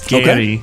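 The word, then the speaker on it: Geri: No, it's Gary.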